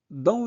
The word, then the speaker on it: dans: Dans dans an se prononce en donc dans ne prononcez pas s la cour o u